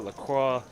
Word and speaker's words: La Croix: vending machine you can buy Fiji, Topo Chico, La Croix.